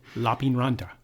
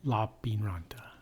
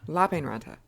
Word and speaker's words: Lappeenranta: Lappeenranta. That's not how you say it. Lappeenranta. Lappeenranta. Lappeenranta. In Finnish, the emphasis is on the first syllable.